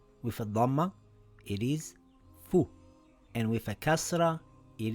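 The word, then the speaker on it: فُ: With a fatha, it is pronounced as fa. With a dhamma, it is fu.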